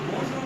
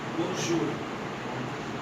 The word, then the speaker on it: bonjour: Okay, so bonjour means good morning. Simple as this. And the next thing, okay, so is different. So what's the pronunciation? Pronunciation bonjour.